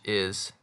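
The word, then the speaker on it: historia: word story in Spanish isor hisor it's like like history but the H isn't pronounced and this also means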